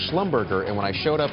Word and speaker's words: Schlumberger: the wedding of a schlumberger daughter i didn't realize that was how you pronounce it I thought it was schlumberger and when I showed